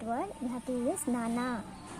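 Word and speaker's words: నాన్న: We have to use nana, nan plus na.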